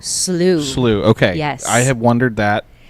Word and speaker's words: Beal Slough: Beal Slough? Slough.